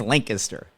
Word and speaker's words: Lancaster: No, in Pennsylvania, it's pronounced Lancaster.